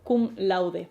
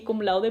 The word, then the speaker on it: cum laude: Y tenemos por ejemplo kum laude Vale y lo pronuncio así kum laude porque es latín y se pronuncia más a lo español que a lo inglés así que puedes decir kum lord kum la con lo